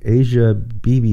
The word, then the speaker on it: Asia Bibi: uh i and there's lots of different ways to pronounce her name asia bibi is how i pronounce